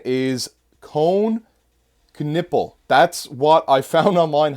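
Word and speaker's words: Knueppel: We then have number 9 is Cone Knipple. That's what I found online how to pronounce it.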